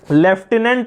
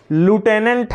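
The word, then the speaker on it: lieutenant: Teacher बोला कि इसका प्रोनाउंसिएशन जो है लेफ्टिनेंट ना होके लूटेनेंट है, तो बच्चे ने भी उसका अनुकरण किया कि लेफ्टिनेंट ना होके इसको ल्यूटेनेंट बोलेंगे।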